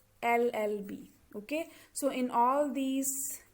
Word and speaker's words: LLB: which the these words are starting with the consonant but when we pronounce them we are getting the vowel sound llb okay so in all